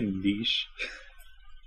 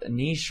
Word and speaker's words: niche: French I think and the French pronounced CH like sh all right we'll have